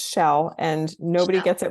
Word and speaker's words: Schell: And funny story, it's pronounced Schell and nobody gets it right the first time.